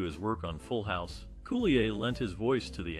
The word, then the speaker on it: Coulier: Dave Coulier, known for his role as Joey Gladstone in Full House, is pronounced Coulier.